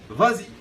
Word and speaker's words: vas-y: au marché, je dis vas-y. Alors là, j'ajoute un S pour le verbe va, tout simplement pour adoucir la prononciation.